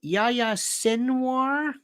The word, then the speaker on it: Yahya Sinwar: Got to know how to spell it to look it up. Phonetic. Yahya Sinwar.